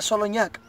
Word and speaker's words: Solognac: francés me ha dicho que se pronuncia solo aquí como el coñac en fin el cuchillo